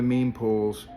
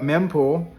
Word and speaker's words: mempool: Today, someone came on the show and explained on the meme pools, I mispronounced that and was corrected in the show, showing my newbie status. So we pulled up mempool and started just going